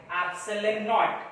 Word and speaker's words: epsilon naught: This K is also right to be 1 upon 4 pi epsilon naught. Remember, this thing is epsilon, and along with 0 it pronounced as epsilon naught.